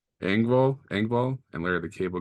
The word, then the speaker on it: Engvall: Bill Ngab? Engvall, Engvall, and Larry the Cable Guy.